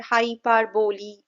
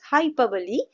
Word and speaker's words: hyperbole: We don't pronounce it at hyperbole. We rather say it as hyperbole.